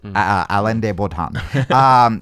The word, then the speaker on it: Alain de Botton: or our de bolt on there it is Alain de Botton he always talks about how in relationships we